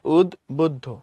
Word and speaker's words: উদ্বুদ্ধ: এরপরে আসো এটা কেমন মোটা মোটা লাগে না বডিবিল্ডার মনে হইতেছে ওকে তারপরে আসো উদ্বুদ্ধ শব্দের প্রমিত উচ্চারণ উদ্বুদ্ধ এখানে দফলা বফলা যেটা সেটার উচ্চারণ হবে উদ বুদ্ধ মানে উদ্দবুদ্ধ অর্থাৎ এটা এরপরে হচ্ছে তোমার